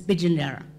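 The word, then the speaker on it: Pitjantjatjara: P is pronounced like a B, so a name like Pijandjara, very famous Indigenous nation, is Pijandjara.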